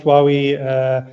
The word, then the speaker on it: Huawei: And yes, you've pronounced Huawei correctly. There's no right or wrong way to pronounce it. It's pronounced differently, just like you mentioned at the beginning how your name is pronounced differently.